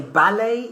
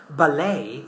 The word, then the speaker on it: ballet: We say ballet in British English, ballet in American English.